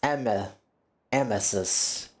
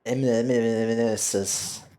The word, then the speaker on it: Emesis: You were saying the name wrong. It's Emesis. Not Emesis.